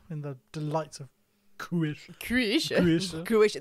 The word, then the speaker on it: Croatia: Croatia, that's how the locals say it, yes.